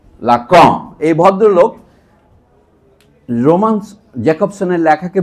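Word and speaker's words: Lacan: বাংলায় উচ্চারণ করলে আমরা এভাবে লিখি। আকার দিয়ে লিখি বটে। কিন্তু এটা উচ্চারণটা এরকম হয়। লাক।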